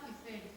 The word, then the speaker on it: Eiffel: Se llama así por el ingeniero que la montó, que se llamaba Gustave Eiffel, escrito E-I-F-F-E-L-L, pronunciado Eiffel.